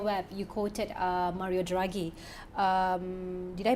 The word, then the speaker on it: Draghi: article in your web you quoted uh mario draghi um did i pronounce his name you got it yes the